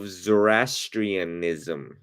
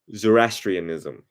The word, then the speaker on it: Zoroastrianism: bear with me for one second I'm better pronouncing did we lit the I Iranian religion of zorastrianism okay God Zoroastrianism there we go the prophet uh zoraster and